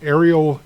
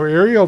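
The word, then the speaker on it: areal: here, we talk about a thing called the aerial density. And it's not spelled aerial like in the air. A R I A L. It's spelled a real aerial, but it's pronounced aerial.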